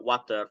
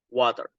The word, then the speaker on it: water: So take a look from the water, for example. In the American English, you can only simply pronounce it like water, water. But in the British, it is silent like a silent R, like water, water, or even water.